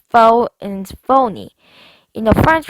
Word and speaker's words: faux: The word fox is pronounced faux and phony.